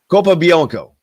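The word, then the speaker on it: Capobianco: Kopianko, that's right.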